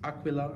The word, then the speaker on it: Aquila: the new Aquila strings aqua low I think is how they say it in Italy that are specially made for